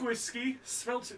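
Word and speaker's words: Gwyllgi: nice the anger wolf um so uh yeah pronounced whiskey svelte g-w-y-l-l-g-i thanks wales thanks wales thanks obama the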